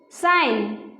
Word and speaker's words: sign: Sign. G is silent.